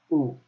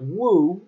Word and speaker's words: wu: CW you now know it's just ooh not whoa it's just full actually